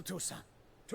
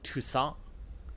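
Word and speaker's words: Toussaint: They keep saying Tusant, which I suppose is proper because that is like the French way of doing it.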